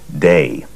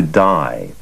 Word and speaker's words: Dai: based in New York, his friends and people around him pronounced his first name Dai. And when he moved to California, the pronunciation shifted to Dai.